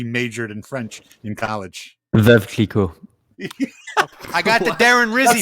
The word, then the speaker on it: Veuve Clicquot: I'll let Andrew pronounce that in French. Since now that I know he majored in French in college. Veuve Clicquot.